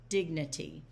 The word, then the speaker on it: dignity: Dignity. Okay. So on dignity, the stressed vowel, I mean the stress syllable is dig. It's not dignity, it's dignity. Dignity.